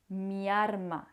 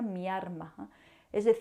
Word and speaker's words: miarma: qu'on utilise beaucoup dans ma ville, à Séville, "MIARMA", qui, en réalité est "MI ALMA" , mais les gens de Séville, certaines personnes de Séville, vont prononcer "miarma".C'est-à-dire, il n'est pas étrange de confondre ces deux